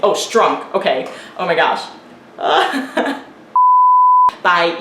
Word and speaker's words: Strunk: William Stunk Jr. and Ibu. I didn't know his name. Oh, Strunk.